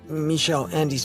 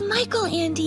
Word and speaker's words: Michael Andy: in reading some of michelle andy's books sound good first off it's michael andy not michelle you really haven't read